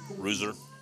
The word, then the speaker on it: Rooser: Is that how you pronounce the pitcher's name? Rooser? Rooser. Yeah.